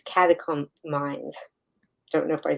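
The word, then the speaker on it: catecholamines: Rogers say this one, but I think it's catacombs. Don't know if I said that right. Yeah, I I usually pronounce it catakolamines. Catacolamines.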